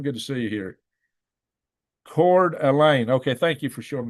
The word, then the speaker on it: Coeur d'Alene: So Coeur d'Alene.